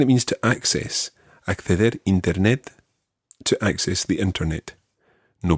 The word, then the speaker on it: internet: But in Spanish, the I sound always is an E sound.